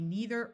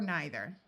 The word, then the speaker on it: neither: It can be neither or neither.